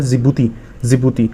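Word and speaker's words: Djibouti: नाम D से शुरू होता है लेकिन इसका D शायद साइलेंट है, जिबूती बोलते हैं, ठीक है।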